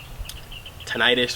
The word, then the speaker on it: tinnitus: So hearing pros for me has been one of the hardest things to find, but because I suffer from tinnitus or tinnitus, some people pronounce it different.